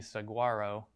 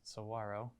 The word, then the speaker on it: saguaro: it's pronounced it's spelled like it would be saguaro but it is actually pronounced saguaro um so with these mountains i'm doing quick